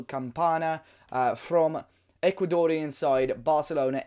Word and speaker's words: Campana: Leonardo camp Anna and I realized that I was pronouncing his name completely wrong in old videos I think I was going in Campania but Leonardo campanha from Ecuadorian side Barcelona